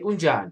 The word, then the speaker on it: unjani: And how you pronounce it is unjani. Look, I'm trying my best to create like a way, like a format where I can help you guys pronounce this correctly. So unjani is like right here. Unjani, and I'll advise you to put an N on J, so it can have that sense of unjani rather than ujani.